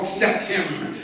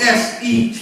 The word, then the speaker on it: Sekhem: level in the energy center, and it's called Sekhem. It's spelled S-E-K-H-E-M, Sekhem.